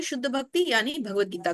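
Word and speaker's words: भगवद्गीता: लिए आता है और भगवत गीता के लिए भगवत आता है कई लोग बोलने में भी इसके उच्चारण में इसको भागवत गीता कह देते हैं तो यह भागवत गीता नहीं है भगवत गीता और जो भागवत है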